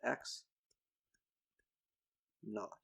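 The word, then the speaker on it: x₀: When we write x subscript 0, it's convention to pronounce this as x naught. And naught is a technical sort of old English way of saying 0.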